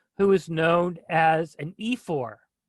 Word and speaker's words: ephor: And then there's a fourth speech by a person who is known as an ephor. Ephor is spelled E-P-H-O-R, ephor, E-P-H-O-R.